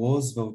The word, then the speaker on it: Oswald de Andrade: a pronúncia é porque a gente escuta muito Oswald de Andrade nessa pronunciar financiada mesmo Oswald Oswald de Andrade a